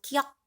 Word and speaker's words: 기역: 기역, 기역. 혀뿌리가 목구멍을 막는 모양. 그래서 우리 한자음으로 아음이라고 얘기했죠. 자, 혀뿌리가 목구멍을 막으면서 혀가 뒤로 당겨지면서 나는 소리 기역입니다.